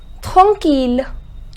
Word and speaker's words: tranquille: The pronunciation is tranquille.